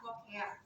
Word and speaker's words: lochia: Kemudian kalau kebersihan yang di sini akan kita lihat adalah lokea ya, walaupun tulisannya lochia dibacanya adalah lokea.